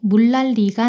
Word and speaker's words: 물난리: 서울에 물난리가 났어요.